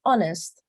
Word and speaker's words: honest: pero Miren el contraste hay otras palabras en donde está H no como en este caso miren honest and Hour aquí yo no la pronuncié no dije nada entonces pues Otra de